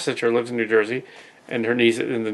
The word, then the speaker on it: Jersey: you know but yeah Jersey don't say joizi though it's Jersey yeah you gotta pronounce it right unless you get into